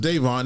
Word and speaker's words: Daivon: all, his name is spelled DaVon, but it's pronounced Devon Nixon.